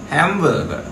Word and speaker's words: hamburger: Còn này từ gợ, hamburger, khác nhau luôn. Hamburger, hamburger. Hamburger. Hamburger. Hamburger. Trọng âm đầu tiên chúng ta là hám, hám rồi, hám rồi, hám rồi.